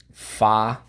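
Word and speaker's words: façade: We drop the silent E, as you can see. But we have to retain the soft C.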